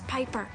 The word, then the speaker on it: Piper: Amanda Bynes, The name's Piper. Rhymes with Viper.